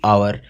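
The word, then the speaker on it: hour: ऐसे ही आवर, इसमें भी एच साइलेंट है और जो साउंड है वो वोवल का है, इसलिए यहाँ पे एन लगेगा।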